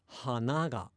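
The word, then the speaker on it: 花が: So the thing is, if you just say nose and flower in isolation, they are the same. They're both hana, hana, hana. But then if you say them with the following particle, they're completely different. Nose is hanaga, where flower is hanaga.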